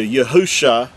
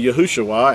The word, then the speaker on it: Yahusha: the coming Mashiach, Messiah, is spelled with 5 letters, which translates into Yahusha, and that's the original text. Now again, with vowel points, it's going to say Yahushua, and that's because they vowel pointed and added an extra